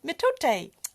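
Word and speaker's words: mitote: the Toltec scored a metate we got it right pronounced metate of course you did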